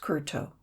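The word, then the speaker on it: kowtow: The kurto, pronounced kurto, and meaning literally to bow the head, is used as a form of thanks, and is not a manner of greeting.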